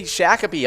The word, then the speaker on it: Shakopee: shakopee and if you didn't know we say shakopee all the time and hit it all the